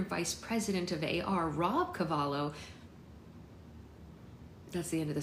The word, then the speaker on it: Cavallo: A follow-up meeting was set up with Bob Cavallo. Why do I keep pronouncing his name wrong like I don't know his name? Cavallo, who was slowly coming around to the idea